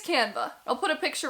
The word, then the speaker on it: Canva: I think that's how you pronounce it, Canva. It's Canva.